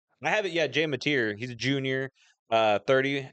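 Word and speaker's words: Mateer: Yeah, it's Matier. Is that how you pronounce it? Yep. Okay. I have it. Yeah. Jay Matier.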